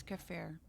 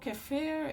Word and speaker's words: kefir: What is cafir? Just for somebody who's ignorant and doesn't know, what is it? Oh, cafir is is it's a form of yogurt.